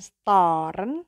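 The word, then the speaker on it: stören: Storen. Bukan storen, tapi storen.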